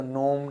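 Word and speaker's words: gnome: इसी प्रकार जी और के को प्रोनाउंस नहीं करते हैं, अगर उनके बाद एन आ रहा है तो नोम, नैक, नील, नीड, नी, इस तरीके से हो जाता है।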